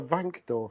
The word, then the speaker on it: Wankdorf: We are in the well, actually, I'll pronounce it properly. It's the Wankdorf Stadium.